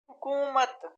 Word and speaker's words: حکومت: حکومت، ہا کے اوپر پیش ہے.